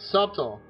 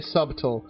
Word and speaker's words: subtle: meant as a jab it was subtle man you know boy if only I could book and say it right I always say subtool get out of here